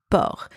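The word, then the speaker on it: porc: means pig or pork same pronunciation as the one before except this time it is the final C that is silent final pair of words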